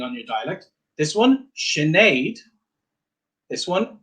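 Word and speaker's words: Sinéad: In the dialect I would use in Northern Ireland, I would pronounce this Siobhan. Siobhan. So that can alter depending on your dialect. This one, Sinead.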